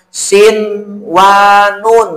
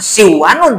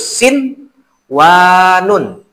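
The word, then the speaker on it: صنوان: Nun mati ketemu wau. Kan yang biasa mah kalau nama idgham si wanun membacanya. Ini mah harus sin, wanun. Harus dibaca sin, wanun. Jangan si wanun diidharkan. Yang kedua, contoh yang kedua, bunyanun, nun mati ketemu iya.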